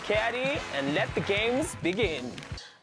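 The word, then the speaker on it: CAWGY: My name is C-A-W-G-Y, pronounced Caddy, and let the games begin.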